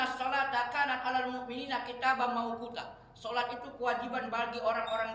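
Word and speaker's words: مَوْقُوتًا: Maunya kita. Bukan mau kuta, mau kita.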